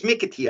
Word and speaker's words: McAtee: A-T-E-E. McAtee. Mickety. Okay. It's Mickety, I think is how they pronounce it.